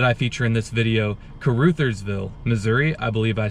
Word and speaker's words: Caruthersville: of both towns the first town is called Caruthersville and the second town is pronounced New Madrid both towns are in the